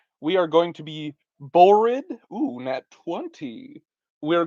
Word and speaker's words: Borrid: So that means my character's name, should probably use a pencil, is Borid. Borid. Uh, Rhymes with horrid.